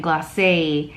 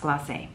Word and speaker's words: Gloss: where we used Studio as the base and glass as a topper which by the way it's pronounced gloss I just realized it had like a little